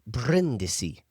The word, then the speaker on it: Brindisi: And when we were talking, they said, "You're saying your last name wrong," which checks out for me. And I said, "What do you mean?" They said it's Brindisi. So I'm asking you guys from now on, I want you to roll your R's when you say my last.